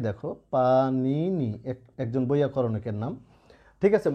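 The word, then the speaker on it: পাণিনি: যেমন তোমাদের একটা শব্দ দেখায়, এই যে দেখো পানিনি, একজন বৈয়াকরণিকের নাম। ঠিক আছে? মূর্ধন্য নয় রস্যই, দন্ত নয় রস্যই, তো এটার উচ্চারণ কিন্তু পানি নি।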